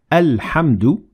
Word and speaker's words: الحمد: الحمد لله رب العالمين Notice how we pronounce the Hamza Wasl at the beginning of the word الحمد because we started there and we said الحمد لله But we ignored the